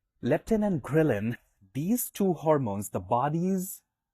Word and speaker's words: ghrelin: if you want to Google it, let me spell that for you. L E P T I N and grillin. G H R E L I N. Leptin and grillin. Leptin and grillin.